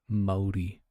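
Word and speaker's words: Māori: Maori. Maori. Maori. Maori. So it is kind of like moldy.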